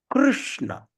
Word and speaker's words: Krishna: So that means, in other words, we just make that I disappear. The word I doesn't exist. So Krishna. Or in other words, we can pronounce like K-R-U-S-H-N-A. Krishna. Okay, that's a real pronunciation.